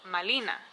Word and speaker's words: Malina: And the Aztecs, when they heard the Spanish refer to her as Marina, they did not have the ability to pronounce the letter R, and they thought they were saying Malina.